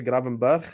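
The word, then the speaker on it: Gravenberch: Endo it's saas and it's graur some Dutch people try to say graen B but I don't know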